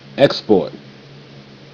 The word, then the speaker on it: export: Export. E, k, ek, sp, sp, sp, or, sport, sport, ek, sport, export. See? That S come over to that P, made that P say sp.